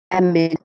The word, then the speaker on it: amid: Amid. Okay. Oh, not amid, but amid. On the second Amid. syllable, amid.